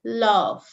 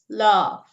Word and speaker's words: love: So he only mentioned love, right? But it's pronounced like F, love, love. So these are the different sounds you need to practice.